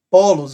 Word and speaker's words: polos: aqui acima vamos lá po los Qual é a sílaba mais forte Fale para mim Ramon é a primeira polos polos portanto é uma paroxítona por quê Porque a penúltima né melhor dizendo a penúltima é a mais forte e Agora eu te